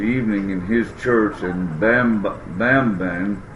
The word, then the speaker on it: Bambang: And then we had services Wednesday evening in his church in Bamban. That's how we would pronounce it, but it's Bambang here, Philippines, and had a good crowd, had a good response.